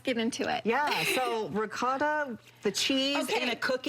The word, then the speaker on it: ricotta: So it's ricotta. Ricotta. Oh man, yes, I'm ricotta. sold then. You gotta roll your R's. Ricotta.